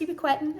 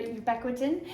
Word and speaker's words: ubiquitin: So it's actually pronounced ubiquitin or ubiquitin, but you can call it whatever because it is not a verbal exam.